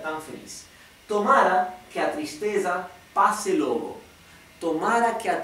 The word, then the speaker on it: tristeza: Así que esto es tristeza y el Río de Janeiro dirían tristeza la s esta la s anterior a la t se pronuncia sh como si fuera la sh del inglés bien Así que dirán